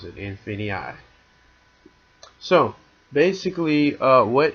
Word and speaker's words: Infinii: of what is infinii yeah that's how you pronounce it infinii so basically uh what what infinii is uh